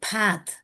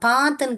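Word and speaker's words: bath: நீங்க native speakers பார்த்தீங்கன்னா இதை ஐ டோன்ட் நோ மை பேத், பேத் அப்படிதான் சொல்லுவாங்க. பாத்துன்னு கூட சொல்ல மாட்டாங்க, பேத்.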